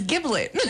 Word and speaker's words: giblet: Giblet with a G, a G. Okay. And then everyone here is telling me, no. It's giblet. Giblet, yeah, the J sound.